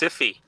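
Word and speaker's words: Syfy: That's pronounced Siffy.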